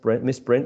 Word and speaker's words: misprint: this case uh miss misprint is uh a noun so and uh besides that it also it also has two syllables and usually for two syllable um nouns it's the first element the first syllable the one which is stress okay here there's a